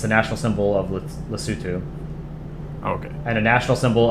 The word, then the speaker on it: Lesotho: Lesotho. Is that how you pronounce it? Lesotho?